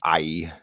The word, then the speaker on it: Ai: So Joshua burned Ai, I pronounce that as Ai, and made it forever a heap of ruins, as it is to this day.